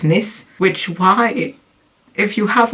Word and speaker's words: Nice: biscuits are not actually they wouldn't be pronounced that way i guess because they're named after the french city of nis which why if you